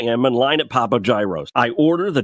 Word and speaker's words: gyro: So here I am in line at Papa Gyro's. I order the Gyro Supreme. Suddenly, the lady behind me chimes in. It's pronounced gyro. Then the fella behind her says, It's a gyro.